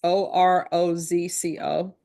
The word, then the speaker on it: Orozco: And I know I'm mispronouncing that. It's Orozco.